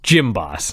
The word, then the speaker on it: Jim Boss: boss no gym boss gym boss like you go to the gym he's the gym boss he's the gym boss so the gym boss is out here it's spelled Jim by the way everybody but it's Jim boss sure he's out there